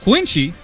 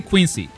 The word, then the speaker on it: Quincy: this beef right now quiny is how I pronounce it because this is how I've heard it my entire life this is how the Japanese say it they don't say Quincy all right queency you